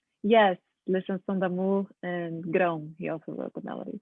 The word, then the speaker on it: Grão: Grau? That's fine. Yes, that's a hard one to pronounce. It's Grão. But Grau is fine.